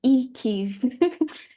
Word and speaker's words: IKEIF: So it's pronounced IKEIF.